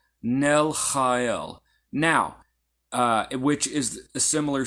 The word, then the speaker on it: Nelchael: Now the CH is pronounced ch. There is no exact sound like this in English. It's the closest, you could say that it is a harsh H sound, like an H, like huh, but stronger huh.